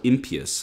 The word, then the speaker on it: impious: religions would never be so impious and that's by the way the correct pronunciation of the opposite of pious it would never be